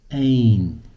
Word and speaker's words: أين: Ain. Okay, and usually when we pronounce it, it's ain. There's a fatha on top.